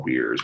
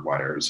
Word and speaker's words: Weir: And then I guess, and these are all weirs. We make or wires. I guess. Wire. How do you prefer that pronounced? I like weir because weir is like one letter off of weird.